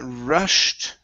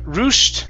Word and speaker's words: rushed: to the word uh rushed right here okay instead of roost roost with an ooh sound it's an uh rushed rush okay give me